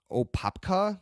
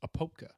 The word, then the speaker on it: Apopka: So yeah, actually in Opapka. Can Eddie lived in Florida, so maybe he can pronounce that for me. I believe the proper pronunciation is Apopka. Apoka. But I could be wrong.